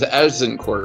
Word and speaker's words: Agincourt: And originally it was, or to the French, it was Azincourt, right? I don't know. I don't speak French unless I'm a cat. The English couldn't pronounce the Z, so they said Agincourt.